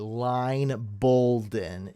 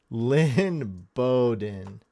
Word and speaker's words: Lynn Bowden: you butchered his name dang he's said line balen it's Lynn Bowden I look I'm not